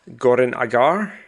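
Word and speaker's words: Goran'Agar: your Gem Hadar character Goran Agar and then you've said it since I said it and you said it correctly, Goranagar. And I'm like oh that's how you say it.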